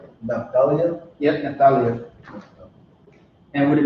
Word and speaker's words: Naphtali: that's how you say it in Hebrew. Naphtali.